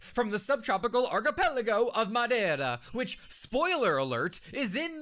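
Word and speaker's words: Madeira: now yet instead here you are sucking down madira wine like it's the first job you've ever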